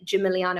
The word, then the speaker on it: Gimigliano: message I'm Jim miliano I appreciate my name is quite long and um difficult to spell with a silent G um but please do